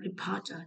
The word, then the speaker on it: reporter: Tiếp theo là reporter trọng âm hai.